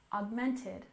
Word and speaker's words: augmented: we have augmented reality with stress on the second syllable augmented augmented and you remember that